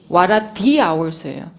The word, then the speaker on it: hour: The hour예요. 이럴 때도 H가 묵음이기 때문에 모음으로 판단한다고. 근데 이제 읽을 때 너무 신경 쓰지 마.